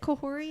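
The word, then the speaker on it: Kahhori: Is it Kohori?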